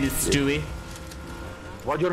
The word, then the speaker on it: Stewie: St okay you're Stewie you're not pronouncing it correctly it's Stewie yeah stupid okay hey